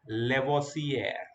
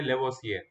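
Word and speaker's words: Lavoisier: जैसे कि यहाँ पे लेवोसियर, लेवोसियर, लेवोसियर, लेवोसियर, ऐसे नहीं बोलना है, ऐसे नहीं बोलना है. Antony Laurent लेवोसियर.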